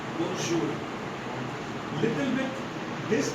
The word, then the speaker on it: bonjour: Okay, so bonjour means good morning. Simple as this. And the next thing, okay, so is different. So what's the pronunciation? Pronunciation bonjour.